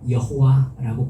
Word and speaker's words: 여호와: 발음해야 되는 이상한 단어예요 거기에 아도나이 나의 주우라는 모음을 떼 가지고 모음을 붙이면 여호와라고 발음이 되기 때문에 그렇게 발음한 것입니다 근데 그 여호와라는 단어를